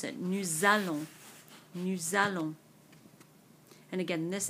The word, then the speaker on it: nous allons: Now, normally this S in nous is not pronounced. It's usually pronounced nous. But because of this A, because of this vowel in allons, we do pronounce it. Nous allons.